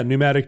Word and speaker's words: pneumatic: it's on my list are we scared off by the silent P have we never done